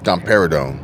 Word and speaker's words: domperidone: these drugs dumper dumper dumper if you can't pronounce it you shouldn't be putting it in your body domperidone I think it's domperidone okay can pass into breast milk in small